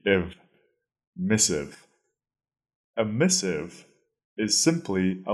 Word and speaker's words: missive: funny or exciting way our second word is missive missive that is spelled m i SS Miss i v v e if missive a missive is simply a letter and it usually refers